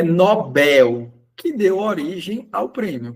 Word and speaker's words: Nobel: Alguns pronunciam Nobel porque é uma pronúncia inglesa, mas a pronúncia correta, se eu não me engano, é sueco. O o cientista foi um grande cientista, inventou da bomba atômica. Ele possui a pronúncia correta do seu nome, Nobel.